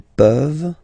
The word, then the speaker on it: peuvent: Tu peux, il peut, elle peut, nous pouvons, vous pouvez, ils peuvent, elles peuvent. Okay, as usual, this ending, this ENT ending, you write it, you don't pronounce it.